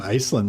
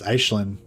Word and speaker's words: Aislinn: play style with um Aelin, the new um the new lord. Oh, somebody told me his name's actually pronounced Ashlin. It's like uh Gaelic, like Irish.